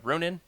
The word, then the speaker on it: Ronin: I just got this new book, uh Ronin. How do you say it, Freddy? Runin. Yeah. Yeah. Yeah, he says it so much better. I actually, ever since you said that, have only heard it in your voice.